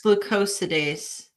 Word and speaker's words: glucosidase: I think it's glucosidase. Glucosides. Glucosidase. Okay. Alpha glucosidase.